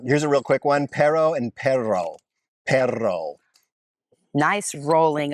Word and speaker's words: perro: next up um here's a real quick one perro and perro pero nice rolling of your RS okay so one of them perro very common to use the word perro because